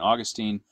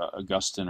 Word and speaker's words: Augustine: named after this guy you can pronounce it either Augustine or Augustine it doesn't really matter um it's personal preference I was taught to say Augustine so I'll say that um but Augustine was